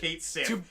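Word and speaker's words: Cait Sith: His name is canonically pronounced Which- Kate Sith.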